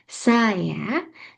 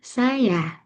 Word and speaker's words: saya: Misalnya dalam bahasa Indonesia, pelafalan saya yang dulu diucapkan dengan tekanan pada suku kata pertama, kini lebih sering diucapkan dengan tekanan pada suku kata kedua. Jadi dulu ee pengucapannya saya, namun saat ini saya seperti itu.